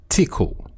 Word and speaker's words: Tcl: abbreviated to TCL and commonly pronounced as tickle. So it was developed as an extension to tickle or tool command language.